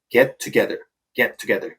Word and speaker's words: get together: get together 부분은 get 뒤에 있는 t 발음과 together에 있는 t 발음이 겹치죠. 그래서 사실상 get together 이렇게 발음을 해주시면 됩니다.